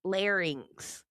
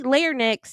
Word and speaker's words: larynx: It's is pronounced larynx. It's If you say linex, you're putting the n in the wrong place.